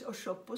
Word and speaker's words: Osogbo: And out of this grew this Osogbo School of Arts that we still talk about today.